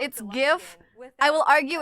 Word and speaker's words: GIF: People can be wrong who name It's It's not giraffic. It's graphic. So, it's GIF name.